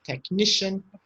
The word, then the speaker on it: technician: Magician, musician, technician. So the CIAN is shin.